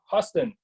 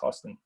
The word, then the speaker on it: Houston: Yeah, from Drew Houston, spelled Houston, but like I think it's pronounced Houston.